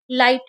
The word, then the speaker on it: light: For example LIGHT, यहाँ पे word में GH आया है इसलिए इसका उच्चारण लाइट होगा।